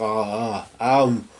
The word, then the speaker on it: Om: Of course, Om is the beginning of something, so it's like Aum, Mama. That sort of Aum, really, it's Aum, and although it's spelt Om, it's really A-U-M, it's Aum, really.